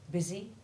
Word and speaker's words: busy: the following plain text the short u4 sound is the same as the short i1 sound of it or bit and though it is found in very few words two of them are very important and common these are busy and minute and it's appropriate that